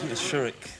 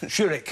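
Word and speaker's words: Szczuryk: y k so that's Paul it's really dier shurik shurik yeah it's quite easy to pronounced yes that's right you just made me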